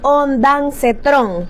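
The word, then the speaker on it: ondansetrón: La primera es ondancetrón, no onda.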